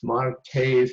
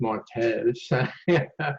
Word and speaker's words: martes: speak it correctly with like Martes, no, it's Martes.